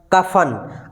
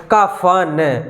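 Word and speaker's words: क़फ़न: अब हम इसी को अगर नुक्ता का प्रयोग करने के बाद शब्द बोले तो इसका जो उच्चारण है वो बदल जाता है, रूप बदल जाए। अब हम बोलेंगे कफन, यानी कि ज़्यादा इसको रगड़ेंगे।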